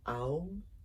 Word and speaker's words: Om: So it's pronounced Aum, A-U-M, Aum, Aum.